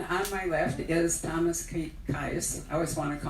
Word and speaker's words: Kies: And on my left is Thomas Kies. I always want to call it Kies. Rhymes with blue skies.